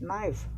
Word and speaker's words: knife: Knife, K is not pronounced.